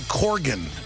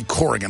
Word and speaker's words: Corgan: stay with us Billy Corgan I always say Corgan I know it's Corgan I don't for a long time he's so nice to put up with that when I say it wrong one of the guys